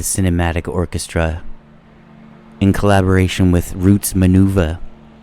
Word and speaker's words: Roots Manuva: Here's another one by the Cinematic Orchestra in collaboration with Roots Manuva. And I'm not saying that funny. That's how it's spelled.